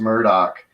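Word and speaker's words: Murdaugh: the the the murderer I think is pronounced Murdoch trial right now is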